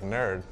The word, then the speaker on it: N3RD: Our designer looked out the window and said, N3RD looks like Nerd. Let's call this Nerd Street Gamers. We're the Nerd Street Gamers. I would always pronounce it North 3rd Street.